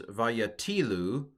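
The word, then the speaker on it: וַיָּטִילוּ: So this is vayatilu, and I know that because I looked at the accent in the text. I don't have the accent written here, but it is vayatilu.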